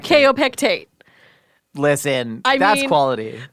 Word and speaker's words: Kaopectate: Food you ate, Rhyming with kaopectate. kaopectate.